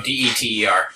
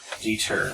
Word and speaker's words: Dieter: Like D-E-E-D-E-R? No, D-E-T-E-R. Dieter, okay. Dieter. Our Michigan accent. Deter. Deter. I like it.